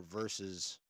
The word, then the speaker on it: versus: I get the feeling that it's going to end up being conquest via or versus. That's how you're supposed to pronounce it. Versus. It's two syllables, Josh. Versus.